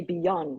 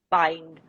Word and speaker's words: Bynd: Okay, so Bynd, B-Y-N-D, a lot of people say beyond, but actually it's a play on the word bind, Right.